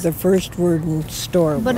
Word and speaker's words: Worden: It's pronounced Worden.